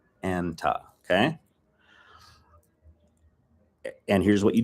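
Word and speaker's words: أنت: Anta and anti, the guy-girl thing, the male-female thing, is spelled the same.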